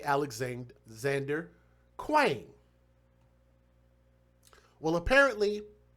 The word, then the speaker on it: Kueng: Now, this individual's name, I had trouble pronouncing his name, J. Alexander Kueng, K-U-E-N-G, Kueng, J.